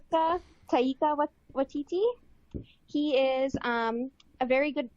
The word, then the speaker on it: Taika Waititi: director is, make sure I say his name right, Taika Waititi.